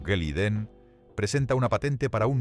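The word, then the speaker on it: Glidden: Un granjero llamado Joseph Gliden, pronunciado Geliden, presenta una patente para un nuevo producto, alambre de púas moderno.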